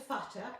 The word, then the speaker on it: Futter: Futter. Uh-huh. And it's a double T, as my mother said you pronounce it very carefully.